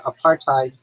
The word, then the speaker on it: apartheid: Apartheid.